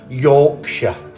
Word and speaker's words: Yorkshire: I can't say it but it's jokes actually pronounced Yorkshire so I'm from nine that's me Yorkshire Indian